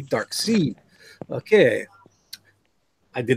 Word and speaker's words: Darkseid: was a cartoon so I pronounced it correctly dark see okay I did not